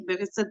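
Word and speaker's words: بعثت: यही समझ आया कि बिअसत का बा के नीचे जेर जो है ये प्रॉपर से प्रोनाउंसिएशन है, तो मैं वो ये भी फिलहाल बोल रही हूँ।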